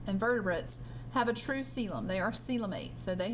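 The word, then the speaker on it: coelom: that's similar a celum the word looks like it would be pronounced colum but it's pronounced celum and a is just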